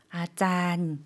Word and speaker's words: อาจารย์: อาจารย์ 아짠. 좀 장모음으로 길게 발음해 주시면 되고요.